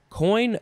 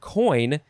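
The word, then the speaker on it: coign: it is three words coin of vantage but coin is spelled c-o-i-g-n coin of vantage um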